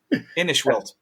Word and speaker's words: Inishwell: I was just saying, Inishwell. Inishwell is how you say it.